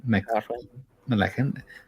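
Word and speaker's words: MacLachlan: No, Laura Dern is like a high school crush that Kyle how do you pronounce his name? McLachlan.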